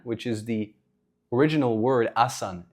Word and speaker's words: asana: Uh the final letter ah was added by mistake because of the accent of southern Indians. Uh southern Indians when pronouncing asan which is the original word asan.